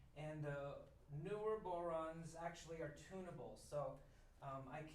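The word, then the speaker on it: bodhrán: the boron i used to call it the baudran and that's not how you say it it's pronounced boron the scan is goat skin and most of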